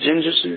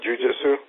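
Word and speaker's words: jiu-jitsu: um how jinjutsu um is it Jin Jitsu no it's not how you say it jiujitsu yeah jiujitsu yeah because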